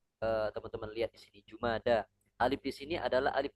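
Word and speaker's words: جمادى: Bulan kelima ini Jumada alula. Jumada alula. ya, Jumada alula. Nah, ini menarik ya. Yang benar itu jumada bukan jumadi ya.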